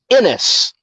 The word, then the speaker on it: Ennis: I've always said Ennis, but my grandmother, when she was talking, she would say Enos. So I guess it's Enos, Texas, but it is Ennis, Texas.